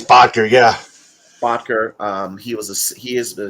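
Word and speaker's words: Boettger: signing veteran Ike Botker or Botker, however you pronounce I his think name. it's Botker, yeah.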